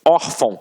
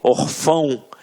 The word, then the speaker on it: órfão: Até mesmo porque se fosse um acento, a gente não ia falar órfão. A gente ia falar o quê? Orfão. E não é o caso. Então aqui, reparem que a sílaba tônica está na penúltima sílaba.